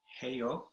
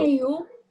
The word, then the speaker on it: 해요: Kerr will show you the pronunciation, and then you can follow after her. Heyo. Heyo. So it's heyo, and Dr. Kerr will show you the pronunciation. Heyo. 해요.